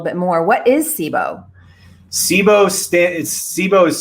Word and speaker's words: SIBO: that a little bit more what is sibo sibo stan sibo is spelled s-i-b-o and it stands for small intestine